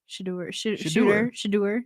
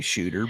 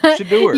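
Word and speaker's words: Shedeur: Shadur, you can say shooter, but Shadur, you got me because you said that Deion Sanders has a son named Shooter and Shader, which is wrong.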